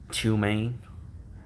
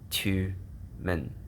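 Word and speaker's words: Tyumen: You got Tumen. That's how you pronounce it in Russian, but in Tatar or Mongol or Uyghur, it's pronounced Tumen, Tiumen. And this is Independent Tartary.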